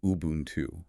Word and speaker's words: Ubuntu: The word is Ubuntu, pronounced Ubuntu.